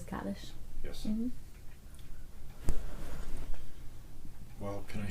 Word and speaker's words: Kaddish: Kiddush said, probably. Mm-hmm. Yeah. Did I pronounce that right? Kaddish? We say, yeah, the mourner's Kaddish.